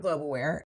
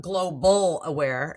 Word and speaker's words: Globe Aware: at least check out Globeaware and the biggest mistake most people make is they'll look up global aare instead of globe aware three syllables but we're everywhere if